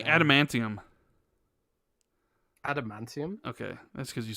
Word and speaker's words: adamantium: Jez, say adamantium.